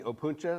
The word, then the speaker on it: Opuntia: And that it's called the Opuntia. Is that right? Is that how you say it? Correct.